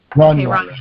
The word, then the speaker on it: Rania: I say Rania. I could be saying it wrong. Greg, how do you pronounce her name? Yeah, that's right. You're saying it right. Okay. Rania.